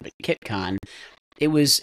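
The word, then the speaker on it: CITCON: but like there's some foundational folks because like Kiton and I pronounced it wrong I said siton but Kiton it was its first one looks like it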